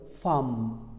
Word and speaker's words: femme: Et s'il vous plaît, n'oubliez pas le mot femme, la femme, A.